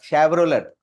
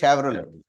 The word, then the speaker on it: Chevrolet: Chevrolet yes my lord not Chevrolet the pronunciation is Chevrolet She's 100 kg 100